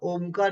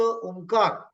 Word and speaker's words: ओम: या आवाजा का उच्चार ओमकार चांटिंग ओम या आवाज उच्चारण अ उ म आणि अर्धी मात्रा असा